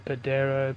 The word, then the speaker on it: Pajero: Land Cruiser j80 and our Land Cruiser a Pajero Padero padaro however you want to pronounce it in whatever country you're from but